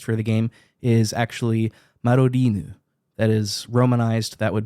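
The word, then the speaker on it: Madoriinu: wanted to make a quick clarification the Japanese pronunciation of mine's name in the original uh Japanese text for the game is actually marinu that is romanized that would be m a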